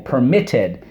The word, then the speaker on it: permitted: okay the word permitted we have two syllables okay in the last syllable we have one vowel we have one consonant at the end and the accent is on the second syllable permitted that's the two one